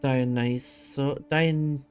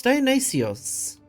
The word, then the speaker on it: Dionysios: Negotiate an alliance with Dionysus. No, it's Dionysios. It is pronounced differently. It's not the English pronunciation.